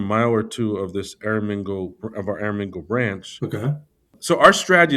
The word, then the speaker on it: Aramingo: And I want to make sure I'm pronouncing this area correctly. Is it Aramingo? Aramingo, Aramingo Village.